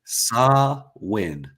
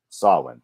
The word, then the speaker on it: Samhain: I will botch that so it's NWA what saw win swin okay NWA swin tomorrow night on